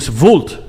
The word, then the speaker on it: vult: good attack how de vult it's with a V cuz I've heard it's